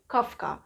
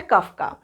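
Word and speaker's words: Koffka: एक है मैक्स वेर्देमार, Wolfgang Kohler and Kurt काफ्का। ये प्रोनाउंसिएशन जैसे मैंने किया है वैसे ही आप करेंगे। मैं फिर से बता रही हूँ, मैक्स वेर्देमार, Wolfgang Kohler and Kurt काफ्का।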